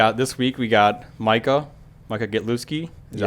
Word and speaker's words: Gitlewski: All right, this week we got Micah Gitlewski.